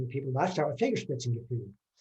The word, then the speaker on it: Fingerspitzengefühl: people, I start with Fingerspitzengefühl. That UE, the umlaut over the thing, just pronounce it like it was a U and don't worry about it. Fingerspitzengefühl, fingertip feeling.